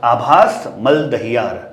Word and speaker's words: आभास मलदहियार: आबिर Lahiri joining me today in conversation is आभास मलदहियार बिल्कुल pronunciation सही लिया Absolutely विद दिस correct.